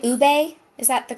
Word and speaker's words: ube: Saying it right, ube? Is that the correct way? Ube and Millennial Yeah, Mom, ube.